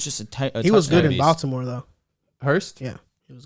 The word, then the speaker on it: Baltimore: Hooper was just he was good in Baltimore, though. Hurst? Yeah. He was good. The way you say Baltimore. Just it's Baltimore. Baltimore? There you go. Yeah. In Baltimore. Like basketball.